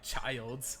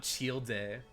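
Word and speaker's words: Childe: like what's it called the pronunciation of that like was like like child's and not chield day like in my mind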